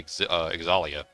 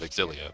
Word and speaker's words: Xillia: like by habit like I used to say exia instead of exilia which is the correct way to pronounce it I had to break